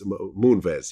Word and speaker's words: Moonves: yeah leslie roy moonves how do you pronounce it i i'm probably pronouncing it wrong but it's moonves moonves okay now you know